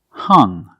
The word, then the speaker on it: hung: The past form of hang is hung, hung. The U makes a short sound like cup and up. Hung.